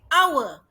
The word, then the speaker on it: hour: Because it is silent H. H-nya tidak berbunyi. Macam house ada bunyi. A house. But for hour, H-nya tidak bunyi. Kita tidak bilang hour. We say hour.